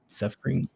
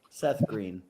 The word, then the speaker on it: SFRNG: Suffering. Tell me how to pronounce it. Seth Green. No, there's no G in here. It's SFRNG. Suffering.